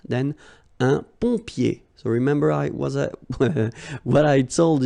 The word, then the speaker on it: pompier: Then un pompier. So remember what I told you, when you get this OM here, it will give you the sound on. So exactly the same sound as this ON, all right?